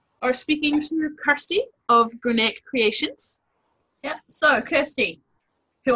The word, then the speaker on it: Grianaig: Okay, so Grianaig, even though it sounds like there's a K on the end, there isn't actually. So it's G-R-I-A-N-A-I-G. And that's actually Gaelic for Grianaig, which is where I am born and bred.